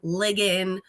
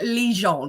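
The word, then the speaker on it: Ligon: ligan things like that but my last name is actually pronounced or Legion because it's an eye so Legion not because lay is Le but I guess it's Legion Legion Legion that's my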